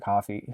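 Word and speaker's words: Coffey: so uh John John Mr Coffee who's not spelled like coffee is in the prison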